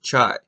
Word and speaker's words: chai: greater in the Bible in Hebrew life is pronounced chai there is an incredible